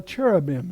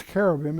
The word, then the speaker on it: cherubim: that we call a cherubim in the Hebrew I think it's carim it's a it's got a a hard C but we have a tendency to take the CH softly the cherubim a cherub